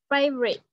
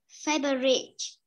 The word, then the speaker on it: favorite: The favorite. Favorite. Âm tờ cuối. Favorite. Không phải chờ mà là tờ mà có.